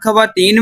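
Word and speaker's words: ख़वातीन: उर्दू जुबान का एक कायदा है कि जब खे के फौरन बाद वाव आता है तो वाव साइलेंट हो जाता है जैसे ख्वाहिश खामदा खवा मखा ख्वाब ख्वाजा वगैरह लेकिन यही वाव जब खे के बाद खवातीन में आया तो कतन खामोश नहीं रह सका इसे कहते हैं सोबत का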